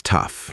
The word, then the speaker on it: tough: She's tough. Nothing really gets to her. That kind of thing. Right. So, to remember it, I always think of it this way. Tough rhymes with stuff, and tough stuff is hard to deal with.